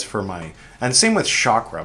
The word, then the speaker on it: chakra: My dad said chakra, but uh then, you know, people started telling me as a as an adult that no, it's chakra. I'm like, what it is? I've only ever heard chakra, but no, it's it's chakra.